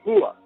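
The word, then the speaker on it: هو: árabe referido a Dios se dice hua pronunciado con no como Hache aspirada sino con lo más profundo de la garganta cerca del esternón eso pronunciado con una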